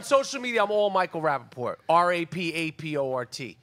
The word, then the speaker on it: Rapaport: On social media, I'm all Michael Rapaport. Rapaport. There's a T at the end of my name. I'm not French. Sometimes people just rap a poor, they ignore the T.